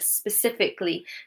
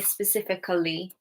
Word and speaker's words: specifically: Notice how I said that word. I didn't say specifically. I said specifically. Yeah. If you pronounce the A, you're adding a whole other syllable to the word that we don't say.